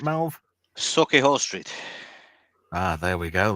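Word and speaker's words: Sauchiehall: Then in Sushi Hall Street, is that did I pronounce that right, Mel? Suki Hall Street.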